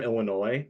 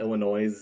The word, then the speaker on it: Illinois: I'm from Illinois, not Illinois. Okay. Right. So I understand the pronunciation.